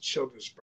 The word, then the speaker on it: Childersburg: I don't exactly know the population, but it's pronounced Childersburg.